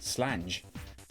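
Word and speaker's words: sláinte: So, and slanche is one of those things. So, slanche is like, you know, cheers, health, and it is um we we pronounce it slanche and in Scotland pronounced slange.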